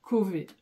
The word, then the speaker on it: Chauvet: Je sais que c'est prononcé, c'est dans le Nord et que c'est prononcé Cauvet. Donc elle, en fait, elle l'a entendu comme ça, elle a écrit Cauvet.